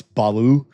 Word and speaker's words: Baal: It's actually Baal. It's actually not Baal. It's Baloo. In Hebrew, it's Baal. In Canaanite Ugaritic, it would be Baloo.